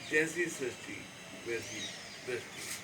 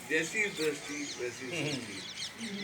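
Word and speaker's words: Jaisi Drasti Vaisi Srasti: Sinaji, is going to speak next episode of Jesse Sasti Vesi Dusty. Or, I must say it correctly, Jesse Dusty Vesi Sasti.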